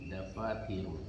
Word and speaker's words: dafatiru: Hazihi dafatirun. Ini buku-buku catatan. Nah, ini ya dafatiru. Ingat ya, tidak ditanwinkan bacanya.